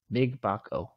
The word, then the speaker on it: Mgbako: But if you have Mgbako, got it, pronounced it right.